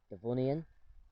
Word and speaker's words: Devonian: term for the age i think it's pronounced devonian and which comes from rocks that were found in the area of devon um either way the